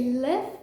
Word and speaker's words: live: once and for all you say live when you're referring to the word in the sense of being alive or um of you know when you're trying to say that you recite somewhere for example if you